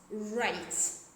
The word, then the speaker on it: write: So whenever we see the letter W before the letter R, we don't pronounce W.